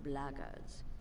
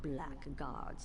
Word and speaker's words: blackguards: another one of those blaggards and that's the way to pronounce it not blackguards like that thug insisted it was then my answer is